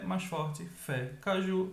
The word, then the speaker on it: caju: Caju, mais forte, ju.